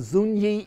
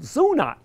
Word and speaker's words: Zuni: Again, you go down to New Mexico, it's the Zuni Indians itself, but Denver has tended to pronounce it Zuna.